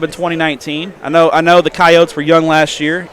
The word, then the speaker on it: Coyotes: I know the Coyotes were young last year. Now, is it Coyotes or Coyotes? What do Coyotes. Coyotes. That's what I thought.